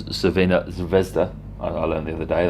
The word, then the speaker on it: Crvena Zvezda: Coming out 3rd in a group of Red Star, who I should actually pronounce as Crvena Zvezda.